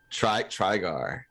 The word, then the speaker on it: Trygar: Is it Trygar or is it Traeger? What is Trygar? Trygar. Yeah. Yeah. It's said exactly how it looks.